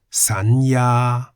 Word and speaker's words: สัญญา: As a final consonant, yo ying sounds like an N.